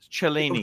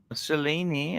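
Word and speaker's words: Cellini: would you go why why go for that chelini TR trust me it's the best looking up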